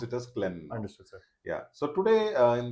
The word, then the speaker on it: Klen: as Clen clean only it's but we all pronounce it as Clen sir yeah so today in the Cen La